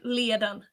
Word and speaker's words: Liadan: yeah um it is is her name liadan or yeah that's how they uh pronounce it but i i don't do it i don't know yeah i i can and i i don't think i said her sister's name right but i did not remember is it nev yeah no me name me how they pronounce it maybe it was